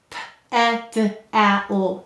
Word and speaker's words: pedal: P-e-d-al. Pedal. Notice you hear a schwa sound here. Any vowel may say or I in an unstressed syllable.